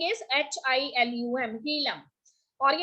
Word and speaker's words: hilum: ठीक है, spelling is HILUM, हीलम।